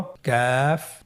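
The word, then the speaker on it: كَ: পরবর্তী হরফটির নাম হলো কাফ এবং লাম। এই দুটি হরফ আমরা হরকত দিয়ে শিখব। আপনারা স্কেল লক্ষ্য করুন এবং আমার সাথে উচ্চারণ করুন। কাফ জবর কা, কাফ জের কি, কা কি, কাফ পেশ কু, কা কি কু।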